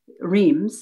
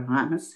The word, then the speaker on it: Reims: were having their downtime in Reims, or Reims, as we pronounce it in France, they decided that the projection was, this war is coming to an end, we'll all be going home.